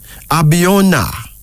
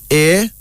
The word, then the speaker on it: Abiona: Abiona. Abiona. A-B-I-O-N-A.